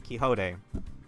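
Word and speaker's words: Quixote: And uh you like Don Kiote. You get better pronounce her last name right. It's Kiho.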